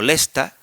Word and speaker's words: Leicester: En en un idioma como el inglés no no tanto, porque yo qué sé, una palabra como Leicester, que se pronuncia como Lesta, los rusos lo escriben